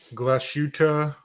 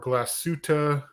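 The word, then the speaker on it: Glashütte: yeah um but it's you're supposed to actually hold the a longer so jenny does it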